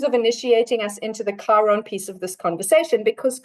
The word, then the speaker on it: Chiron: of this conversation, because Chiron is the planetoid here, looks like a little K with a bubble underneath it. It's spelled CH though, so don't let that give you.